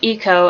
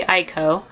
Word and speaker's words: Iko: um Dimitri Ireland who is in charge of finding a cure and there is echo which I used to pronounce eco and then I realized it's probably Aiko um who is cinders